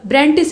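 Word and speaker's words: Brandis: तो डेट्रीज बैंड्रिस के ब्रांटिस हैं शायद, ये यहाँ पे देखिए ब्रांडिस लिखा हुआ है, लेकिन उनका जो मूल नाम है वो ब्रांटिस है, तो प्रोनाउंसिएशन का अंतर है।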